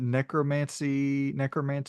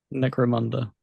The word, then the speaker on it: Necromunda: Is it Necromancer Hard Gun? Necromunda. Necromunda Hard Gun.